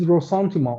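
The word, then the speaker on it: ressentiment: that his main characteristic is rosanthoma or resentment not resentment it's a completely different uh concept which they use the French pronunciation in German or an inversion of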